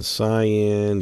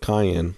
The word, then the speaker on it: cyan: how to pronounce cyan kept wanting to call it Cayenne anyway like the pepper I don't know all